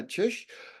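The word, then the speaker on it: Czyż: today on Calgary's podcast joining me is Magdalena chish who is a certified health coach and a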